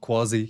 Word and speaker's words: quasi: Yeah, that's how the British pronounce it, quasi, not quasi.